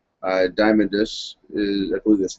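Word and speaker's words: Diamandis: Uh, next story we'll cover here is uh, one from CoinDesk uh, about the X-P prize founder Peter H Diamondis is I believe that's how you pronounce it is swapping out his gold for Bitcoin.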